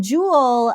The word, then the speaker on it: Joule: it exact right uh jewel like a gem foul like wow okay